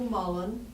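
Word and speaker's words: mullein: oh it is okay uh m u l l e i ah okay so it's a homonym right the same different I just know spelled pronounced Mullen and it's a soft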